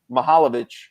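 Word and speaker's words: Mihajlović: thing because bologna's coach is uh mahalovic right that's how you pronounce his name and um my man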